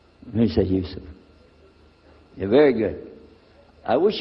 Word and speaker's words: Yusuf: inshallah my name is Yusuf can you say Yusuf Yusuf you're very good I wish you teach my wife she keeps mispronouncing it she calls me ha from